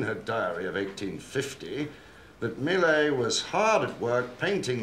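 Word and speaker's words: Millais: Daughter by Miley Lewis is pronounced Miley one of the pre-raphaelite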